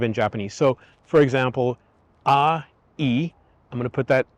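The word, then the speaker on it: 愛: But ai is love, and it's not pronounced I. It's not 1 syllable, it's actually 2 syllables.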